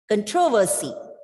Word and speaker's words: controversy: the unstressed syllables and you read the word as controversy it's not controversy controversy because you are stressing on the second syllable here so khan reduce